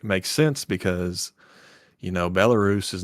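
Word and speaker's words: Belarus: scenes and sure enough that's the way they pronounce it is Chernoo and I was like makes sense because you know Bellarus is not Bellaris, it's Bellarus.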